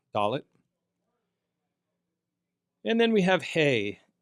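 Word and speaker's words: ה: And then we have hey. Hey, when it functions as a consonant makes a soft h sound.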